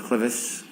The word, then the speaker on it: clivus: Were you a presenter in fractures of the clivus, clinical and radiographic features? Yes. Am I pronouncing that correctly?